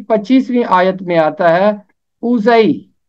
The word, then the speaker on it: اوزئی: آیت میں آتا ہے اوزئی، اوزئی، زے کے اوپر زبر ہے، آگے چھوٹی یہ ہے، اوزئی۔ اب میں آپ کو